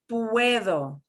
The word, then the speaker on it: puedo: Puedo. Puedo. Puedo. Puedo. Puedo. Puedo. Puedo. And it'll sound like a TH, puedo, okay?